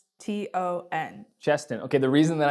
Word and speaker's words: Cheston: It might be pronounced wrong, but that's how it's spelled. What is it, Cheston? It's Cheston.